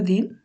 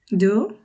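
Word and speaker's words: du: ডি বলি যেমন David সুইডিশে ডি কে ওরা আমাদের দর মত উচ্চারণ করে যেমন বাংলাদেশ যে দটা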